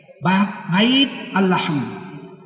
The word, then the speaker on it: Bethlehem: Orang Inggris membacanya Bethlehem. Orang Batak membacanya Bethlehem. Di mana Yesus lahir? Di Bethlehem. Bait Al-Lahm.